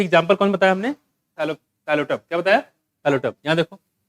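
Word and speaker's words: Psilotum: P silent, ये देख रहे हो यहाँ पे। इसमें एग्जाम्पल क्या है? देखो, साइलोटम क्या है?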